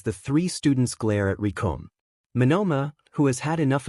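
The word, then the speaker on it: Recoome: Because the name's Recom, and it rhymes with doom, and you're gonna be hurting all, too?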